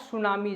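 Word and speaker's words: tsunami: ही लिखा जाता है लेकिन इसको पढ़ा सुनामी जाता है यानी टी को क्या करा गया है साइलेंट किया गया है ठीक है तो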